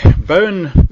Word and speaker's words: Bowen: um what is botch bone botch is is um like an Australian homegrown uh therapy it's it's um it's called the Bowen technique it's it's not B NE it's spelled b Wen now this is takes